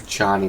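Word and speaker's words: Echani: It is something I have seen in only the most disciplined and revered of the Ichani weapon masters. Ichani, that's how it's It comes pronounced.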